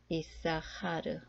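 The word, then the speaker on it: יששכר: 하나님 이라는 뜻이 됩니다 마지막 단어는 쓰기 전통에는 요오드 스 쓰인 카 프레시 마치 s 아스카 루 처럼 기록되어 있지만 몸을 다른 뵙게 전통에 의하면 이싸 하르 라고 발음이 됩니다 뜻은 잇사갈 사람 이름입니다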